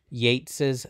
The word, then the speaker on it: Yeats: on a grecian urn i know their names are spelled the same but they're pronounced differently so it's yates and keats and i also i'll